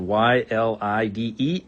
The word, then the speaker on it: ylide: It's spelled Y-L-I-D-E, ylide.